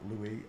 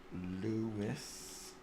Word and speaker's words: Lewis: Not Louis. Lewis. Lewis. There we go. And we're done. No, not Capaldi. Why is Capaldi coming up? Search. Oh, you're winding me up. There we go. Lewis, search.